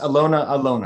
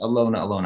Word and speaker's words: Alyona Alyona: I think it's pronounced Alyona Alyona. I've heard her pronounce it just Alyona Alyona.